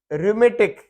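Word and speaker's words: rheumatic: Stomach, जिसको हम मैदा कहते हैं, स्टमक की एच साइलेंट है, और ये रूमेटिक, इसमें एच साइलेंट है।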